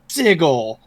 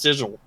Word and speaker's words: sigil: that and someone's like it's actually pronounced Sigel and they're like oh